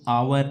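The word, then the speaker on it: hour: इसको आवर और ऑनेस्ट का ध्यान रखना। इन दोनों में एच साइलेंट है।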